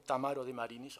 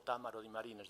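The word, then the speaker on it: Tammaro De Marinis: desafección al libro como Tamaro de Marinis o Támaro de Marines, depende si lo pronuncian en el norte de Italia o del sur de Italia.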